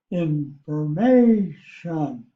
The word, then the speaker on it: information: Below is how it's spelled in English, and it's pronounced information. Information. First, let me point out the fact the accent is on the MA, information. And so, but it's not marked.